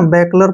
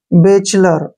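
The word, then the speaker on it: bachelor: तकरीबन ठीक है ना बेकलर पढ़ते हैं किसी भी तरीके से गलत होता है तो यहां पर देखिए बी ए का उच्चारण हम क्या करेंगे बे ऐसे सी एच का उच्चारण च हो गया ठीक है ना सी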